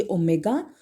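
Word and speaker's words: ohm: unit होती है ओम इसका सिंबल है ये ओमेगा और प्रोनाउंस किया जाता है ओम ऑन the name of the scientist ठीक है अब इसको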